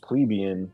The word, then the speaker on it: plebeian: I mean, it is pronounced plebeian, but I like to say plebs just because, I don't know, it sounds weird.